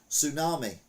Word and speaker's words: tsunami: can manipulate things doesn't it meanwhile English lesson tsunami T is silent honest H is silent psychology P is silent.